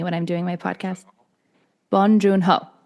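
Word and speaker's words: Bong Joon-ho: Bonjunho. Bonjunho. Okay. From that's how he says his name.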